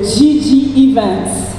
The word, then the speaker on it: GG Events: Voilà, du GG, hein, en anglais, hein, ça se prononce en anglais, GG Events.